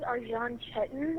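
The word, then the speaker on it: Arcan Çetin: His name is Arjan Chetan, and he's from Turkey, so it's a little strange name, but it's spelled Arcan. And what was the last name? Chetan, Cetin. 20-year-old Arjan Chetan, who was born in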